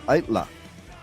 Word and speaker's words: Aittala: So, let's welcome to the show Eric from ITLA.